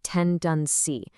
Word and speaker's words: tendency: To really round out this whole theme of human nature, we have tendency, pronounced ten dun see.